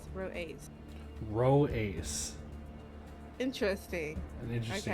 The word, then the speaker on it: Rho-Aias: I don't want to butcher the name, but that's Rho-Aias, as Edac says, Rho-Aias.